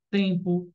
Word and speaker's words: tem: tem t e m esse M não é dígrafo esse M se transforma em uma semivogal porque eu não falo tem eu falo tem I Então esse m tem som de i nesse caso não é